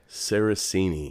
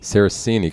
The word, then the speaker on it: Saracini: if I've heard your last name out loud sarasini sarasini cuz I was typing it wrong and I